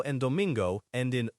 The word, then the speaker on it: domingo: That's domingo, D-O-M-I-N-G-O, pronounced domingo.